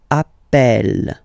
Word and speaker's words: appelle: You tend to pronounce it like E, E, really open. That's the reason why you pronounce it appel, appel, okay?